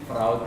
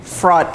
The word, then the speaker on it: fraud: If you look at dictionary, okay, yes, the spelling is F-R-A-U-D, but the pronunciation is like F-R-O-D.